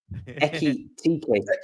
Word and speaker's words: Ekitike: Ekatike. I always say T first as well. Ekitike.